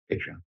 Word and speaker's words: Patreon: And then later in the podcast, they gave up and said, Paul, it's actually pronounced Patreon.